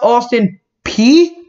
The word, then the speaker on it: Austin Peay: something going offensively here it's pronounced austin p howdy am i saying